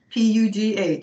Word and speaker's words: Pugh: Pugh, yes.